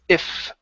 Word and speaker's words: if: the very beginning okay it almost sounded like you said it's you ok it's if okay top teeth on the bottom lip if you it's you